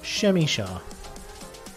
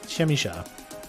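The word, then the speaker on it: Przemysław: Shemyshaw Frankowski. That's how you pronounce this. Shemyshaw. I'm pretty sure that's right. Shemyshaw.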